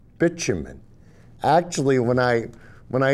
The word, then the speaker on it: bitumen: called bitumen i know kurt says it's with a hard t-bitumen but really you're going to see that most people pronounce it bitumen actually when i when